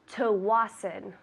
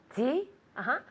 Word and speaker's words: Tsawwassen: TSAWWASSEN. Very good. That is difficult. We say Tsawwassen. Tell me. Tsawwassen. Good. Tsawwassen. Luca says that it sounds German.